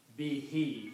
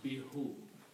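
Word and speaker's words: بِهِ: you read these together you pronounce be he you do not pronounce be who easy on the tongue okay b is not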